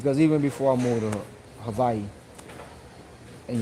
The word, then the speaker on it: Hawaii: before I mve to Havi and yes I said Havi cuz that's the proper pronunciation of it um before I moved